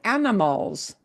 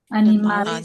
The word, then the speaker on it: animales: ¿Cómo se dice animals? Animales. Animales. Animales. No, no es como inglés animals, no, animales, animales, ¿ok?